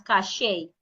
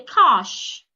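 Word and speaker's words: cache: My dad would normally pronounce this word as cashache. That is wrong. He say cash.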